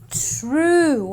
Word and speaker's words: true: And same goes for the next word, wherein the UE again gives me the oo sound, and therefore I say true. I don't say truey, I say true.